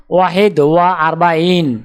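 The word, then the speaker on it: واحد وأربعون: আরবি ক্রমিক সংখ্যা 41 দেখতে এরকম, উচ্চারণ হবে ওয়াহেদ ওয়া আরবাইন।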